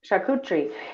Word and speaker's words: charcuterie: yeah yeah it's sharp charcuterie sarakutri yeah yeah charcuterie and it's um it's french and i only know how to pronounce it because everybody used to butcher it i only know because